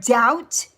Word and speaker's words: doubt: We say the word doubt, but there's a B in there.